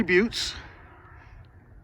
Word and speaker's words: butte: That's a big basalt monolith out there that's called a butte, B-U-T-T-E. Rocky says I'm mispronouncing it. It's just but, the E is silent.